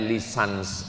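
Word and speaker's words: licence: LC itu singkatan dari licenci. B bahasa Inggris cara membacanya lisans.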